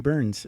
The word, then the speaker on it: Byrns: yeah it is yeah because it's spelled b y RNs right right so it could could have gone other ways right it could have been brain but right it's Burns sure enough Burns wow